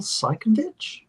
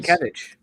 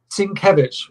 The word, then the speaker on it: Sienkiewicz: I was like, Bill Seikenditch? The artist, who did New Mutants? Bill Sienkiewicz. Oh, there we go. How do you pronounce it? Sienkiewicz.